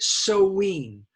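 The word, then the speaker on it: Samhain: scotland wales okay um the celtic people had a holiday named s-a-m-h-i-m but we do pronounce it like that we pronounce it so ween i have no idea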